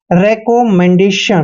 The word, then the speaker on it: recommendation: Double M का उच्चारण मैं करेंगे और ई को ए की मात्रा पढ़ते हैं, और एन का उच्चारण न करेंगे, और डी को हमने डे पढ़ना है और ए को ए की मात्रा पढ़ते हैं, यानी कि मैंडे। और देखिए यहाँ पे TION का उच्चारण हम शन करते हैं।